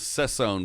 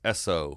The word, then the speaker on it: Essoe: I thought it was Sesson, but I looked at it today. It's Essoe. It's just Essoe.